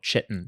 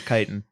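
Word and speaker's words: chitin: would be bad but it's actually something called chitten I think it might be kiten kiten I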